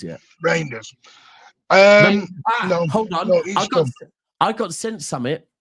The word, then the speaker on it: Reijnders: Um I tell you what, people can you have we had the announcement of Rinders yet? Reinders. Um I got sent some by Pat earlier, right? And it's Reinders saying how to pronounce his name.